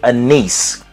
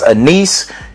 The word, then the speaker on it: anise: I think it's pronounced anise. I have to look into that. If anybody else out there know how it's pronounced, please drop that in the comment. Let me know so I don't say the wrong thing. But it's anise.